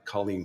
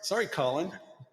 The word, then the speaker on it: Colleen: It was Micah McKinnon of Utah took out Colleen Cole of California for amateur singles. And amateur doubles. That's Collen Cole, by the way, just in case he hears this.